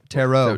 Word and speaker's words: tarot: Tarot.